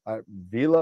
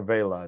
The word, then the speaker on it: Vela: So tonight I'm going to be talking about, it's either Vila or Vela. It depends on what how you pronounce it. So well, it depends on what part of the country or world you're from.